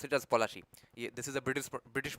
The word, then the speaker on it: Palashi: the field of plci it's not actually pronounced placy in in Bengali it's POI okay so I will just pronounce it as polachi this is a British